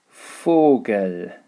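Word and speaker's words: Vogel: an f pronunciation so a good example of this would be fogel fogle is the word for bird dear fogel der fogle pronounced as an f you will also see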